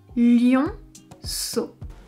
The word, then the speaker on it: lionceau: Quand on a un E après la lettre C fait le son S. Et ensuite, on a les lettres E, A, U qui ensemble font le son O. On prononcera donc lionceau.